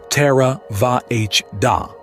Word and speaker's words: Theravada: Theravada, pronounced more or less "terra-va-h-da", the doctrine of the elders, is the school